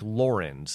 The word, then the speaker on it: Lorenz: is called a rage at c by frederick laurens lauren's is spelled l-o-r-e-n-z and it's actually a pseudonym of a by a guy named lawrence heller who was born in 1911.